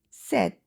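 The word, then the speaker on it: sept: Number seven is set. Set. So notice uh there is no sound of P and T is not emphasized.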